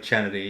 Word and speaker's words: Chennedy: pronounce oh Kennedy's name yeah they say because it's spelled c h e n n e d yenn it's like chennedy yeah so they were like hey because Angel